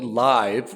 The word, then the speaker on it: Liv: And they own something called Sony Live, which is spelled Liv, which makes me think of the Saudi Gulf League.